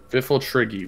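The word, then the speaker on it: Pfifltriggi: Le triggy FIFA trigger fifultal triggy which actually starts with a P that's why I needed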